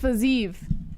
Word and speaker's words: Fiziev: mute this up fajitab it's pronounced fazeef moss i'm going to call him physio but i don't care